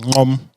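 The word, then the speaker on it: Gqom: So there's then Amapiano, there's Gom, or pronounced Ngom, which is like a, I'd say between 125, 130 BPM.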